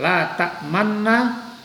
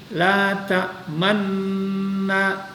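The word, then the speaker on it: تأمنا: Dalam khot atau tulisan mushaf Utsmani tertulisnya hanya dengan satu huruf nun yang bertasydid, sehingga cara membacanya memadukan keduanya antara nun satu dan nun yang keduanya, bunyinya yang tadi seperti la ta'manna.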